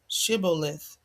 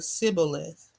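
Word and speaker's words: Shibboleth: the they would say, "Say the word Shibuith." The men of Ephraim could not say that word correctly. They pronounced the word cibilith. So if the man said Cibilith, then the men of Gilead knew he was from Ephraim.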